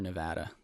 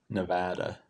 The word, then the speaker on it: Nevada: How do you say it? Nevada or Nevada? Nevada. Nevada. Andrew told me that when he went out to Nevada that if you don't say Nevada, then they they don't like that much.